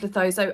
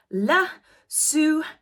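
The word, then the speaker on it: Lesotho: there is no place in the world called letho I don't know why I had that apparently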